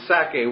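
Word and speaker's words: Sacae: region, of course the Sake was, again, I just picture the word Isaac, and Sake is S-A-C-A-E. It has the syllable of Sak, Isaac, or Itzhak right in it.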